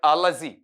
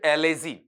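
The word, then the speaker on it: allergy: अगला क्वेश्चन आपके पास में, which one ऑफ the following is a characteristic of एन एलर्जी, इसका उच्चारण सुनना, नॉट एलर्जी, एलर्जी।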